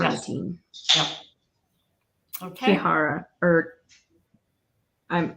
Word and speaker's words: carnitine: Because Shara was asking how carnitine, and it's actually Carnitine. That's the spelling of it. Yeah, and so Carno, as in like carno, like carnivore, and then teen. So carnitine.